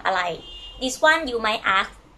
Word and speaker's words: อะไร: Can you pronounce after me? Sang, okay, together, sang arai. This one you might ask your friends in the restaurant or the waiter, waitress might ask you, okay? Sang arai.